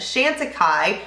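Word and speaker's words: Chantecaille: it is so good so that is the Shanta Kai I know how to say it now guys thank you for that the shantai bronzer is just I mean I would buy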